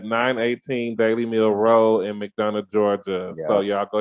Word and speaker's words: McDonough: It's gonna be at 918 Dally Mill Road and McDougan, Georgia. I hope I ain't. Is it McDonough? McDonough. Did I butchered the name?